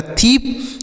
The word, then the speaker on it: thief: यह हो गया थीप।